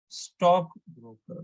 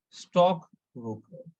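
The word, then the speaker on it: stockbroker: So we should pronounce this one as stock broker. We need to stress on stock. Similarly, here, health care. We need to stress on the first word, stock broker, health care.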